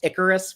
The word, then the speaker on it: Icarus: me like I think the comet was supposed to be pronounced Icarus 4, like Icarus from mythology, but he he says like I for realized it was supposed to be Icarus.